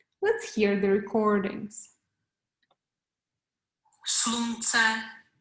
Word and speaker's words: slunce: Slunce, slunce.